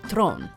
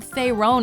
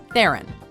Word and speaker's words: Theron: heroine no just there you've probably heard thier own at some point but Charlize pronounces her last name like this Theron immediately recognizable as Imperator